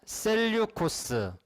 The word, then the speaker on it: 셀류코스: 셀류코스. 책에는 좀 다르게 나와 있는데 발음상 셀류코스라고 저는 배웠는데 셀류코스라고 합니다.